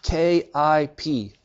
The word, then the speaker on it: kip: the answer is 10 K IP what so what is a ki P pronounced Kip what's a Kip is